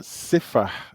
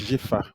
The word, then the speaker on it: Shifa: So we've got Sifa. It's actually pronounced Shifa, but Shifa is a avid listener to the show.